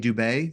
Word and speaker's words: Dubé: Your co-authors are Mark O'Donnell and CJ Dubé. Did I get that right, pronunciation?